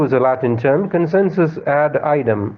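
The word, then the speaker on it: ad idem: the Latin term consensus add item or you can pronounce it as Adam which means agreeing on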